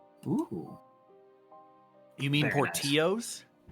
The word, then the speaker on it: Portillo's: We're going with Portillo's, chat. ooh. You mean Very nice. Portillos? No, I actually mean Portillo's. That's how it's pronounced.